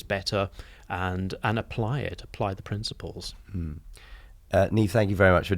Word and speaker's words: Niamh: It's the Gaelic sort of pronunciation, but NIAMH is how the name is actually spelled.